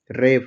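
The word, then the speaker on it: wrap: जैसे डब्लू आर ए पी, रेप, रेप मतलब होता है लपेटना।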